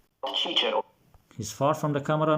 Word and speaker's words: Cicero: Classical Latin was always pronounced like a K. You can see now he's far from the camera. So it's Cicero, not Cicero.